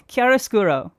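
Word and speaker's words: chiaroscuro: Okay, so the second one up is Kiarasuro. Uh, what? Huh? What? Kiarosuro key. Not chi, not chai. key kiarosuro.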